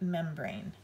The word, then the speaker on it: membrane: Brain begins with a blend. Brr. B-R. Brain. Do you hear a long A there? Brain. N sound. Now to make the A say its name, we add a quiet E at the end.